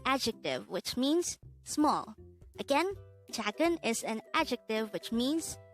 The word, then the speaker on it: 작은: hangout word number 242 this is pronounced as a two-syllable word the first syllable is